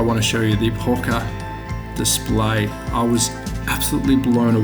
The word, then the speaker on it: Pocher: Now I think I'm saying it correctly, it's Pocher. I think it was P-O-R-C-H-E-R.